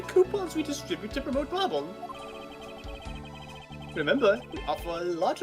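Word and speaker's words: Babahl: It's Bobble! Bobble! I see an H in there that thought it's Babal.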